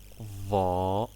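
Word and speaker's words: ظاء: Then Sad and its sister Dad, and Ta, it is like T but it's hard, and Va. Okay, you make your tongue out for your mouth when you pronounce it.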